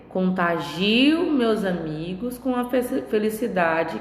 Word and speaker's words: contagio: Então, na palavra contágio, eu tenho a sílaba tônica no tá. Já na palavra contagio, eu tenho a sílaba tônica no gi, tá?